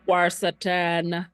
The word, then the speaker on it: quercetin: I kind of made up the pronunciation. It's probably wrong. I don't like that. It's quercetin.